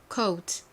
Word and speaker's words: coat: 영어식으로 발음을 하면 코트가 아니라 coat, coat 이렇게 가운데 살짝 우 발음이 들어가요.